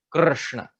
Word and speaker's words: Krishna: So this vowel or swar R is the actual pronunciation of Krishna. So that is the pronunciation of Krishna that we should take.